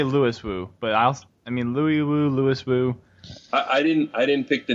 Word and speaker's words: Louis Wu: Louis Wu. Or Louis Wu. Still get it wrong. Holy crap. Said. I hear a lot of people say Louis Wu, but Louis Wu, Louis Wu.